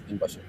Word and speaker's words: binbaşı: And my father at that time was a major in the army, and major in Turkish is binbaşı.